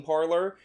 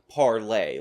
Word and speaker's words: Parler: and tell her that it's actually pronounced parlay like the French pronunciation that for some reason